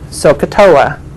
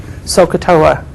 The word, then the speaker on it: SOHCAHTOA: and you pronounce it sohcahtoa sometimes I think about soaking my toe sohcahtoa it's how you pronounce